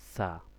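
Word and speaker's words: ث: এটা স কিন্তু আরবিতে উচ্চারণ সছই হবে। কিন্তু কি হবে? বাতাস বের হবে। সা জিহ্বার আগাটা দাতের সামনের দাঁতের আগার মধ্যে লাগবে।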